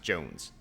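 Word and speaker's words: J'onzz: It's pronounced Jones.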